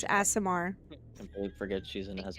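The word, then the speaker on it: Aasimar: Asimar. Completely forget she's an Thank you. Asmiri.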